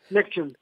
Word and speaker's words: NXIVM: Nexium, Nexium. Lexium. Se dice Nexium, se escribe NXIVM, pero ellos siempre le han dicho Nexium, es, digamos, así como se dice Nexium.